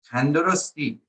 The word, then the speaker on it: Tandarosti: If, again, I'm from the city of Esfahan in Iran, I'm going to be saying Tandarosti. That's how I'm going to say it.